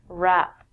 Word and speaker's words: wrap: one is the W the W with the r it overpowers it we don't say the W when we say this word wrap there are two meanings